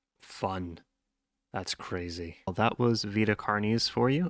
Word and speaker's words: Vita Carnis: Vita cares for you apologies for mispronouncing it at the beginning of the video I forgot that they they call it cares I've been calling it VA carnice for way too long um I hope